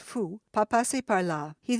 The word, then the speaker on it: faut: "Il ne faut," pronounced fou, "pas passer par là."